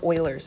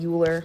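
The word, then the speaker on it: Euler: Um, E is what's called Oilers's number. You're going to see this name and you're going to want to call it Uler, but it's pronounced Oiler.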